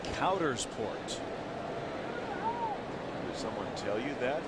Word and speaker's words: Coudersport: And we've gotten the official pronunciation of what? Of that town in Pennsylvania. Okay. It's Coudersport.